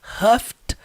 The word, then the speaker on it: huffed: percebem que ambas no passado levam o som do T no final. Huffed and puffed.